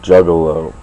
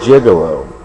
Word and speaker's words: juggalo: things first what you the pronunciation of the word juggalo you were saying gigolo and I'm sorry about